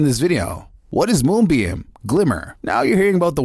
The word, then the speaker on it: GLMR: different blockchains moonbeam's glimmer pronounce glimmer but spelled glmr blows that argument right